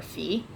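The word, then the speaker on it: ฝี: So it's like the word fee, like a processing fee or whatever, but you say it like it's a question fee.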